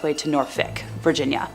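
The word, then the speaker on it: Norfolk: on its way to Norfick, Virginia. Now, if someone wants to fight me on that pronunciation, I swear I consulted a couple of friends who live in Virginia for that one.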